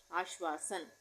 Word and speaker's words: आश्वासन: वो नहीं लगेगी क्योंकि आधा श का उच्चारण हो रहा है। तो आश, उसके बाद वासन, आश्वासन।